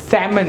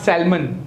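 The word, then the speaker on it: salmon: Half, पता चल रहा है एल कहां पे साइलेंट है? पाम, हथेली को क्या बोलेंगे? पाम. सैमन, नॉट सैल्मन. सैल्मन बॉय નથી આ, શું છે? સેમન.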